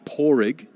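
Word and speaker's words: Padraic: which is the most common and easiest to pronounce there's then porrig which is p-a-d-r-a-i-c and then there's porig with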